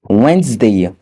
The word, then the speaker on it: Wednesday: La lettre D n'est pas également prononcée dans les mots tels que sandwich, le sandwich, Wednesday, le mercredi, handsome, beau.